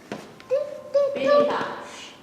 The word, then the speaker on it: Phinehas: The E is long. Phinehas.